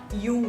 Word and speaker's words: Jung: oleh Yung Yung ya bacanya gar-ara pakai j Jangan pakai jungnya bukan Little Miss Chung estter dia gak menulis buku itu cara bacanya Yung guys itu cara baca orang bule gitu Yung mengatakan bahwa semua